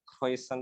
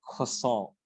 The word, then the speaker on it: croissant: BTW bacanya bukan croissant tapi croissant.